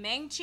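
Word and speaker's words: Maangchi: Meng Chi. You guys follow her. Her name is spelled M-A-A-N-G-C-H-I, I think.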